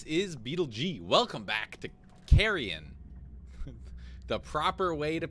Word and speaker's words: Carrion: hello everybody this is beetlej welcome back to carrion the proper way to pronounce it so we're gonna keep on moving